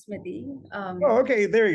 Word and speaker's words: Smiti: what's the correct pronunciation is it smeaty or sweetie it is it is smithy um oh okay there